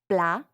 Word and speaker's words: plat: attention to the sounds blah notice how the final T is not pronounced that's because in French generally if a word ends with a consonant it's silent just like s'il vous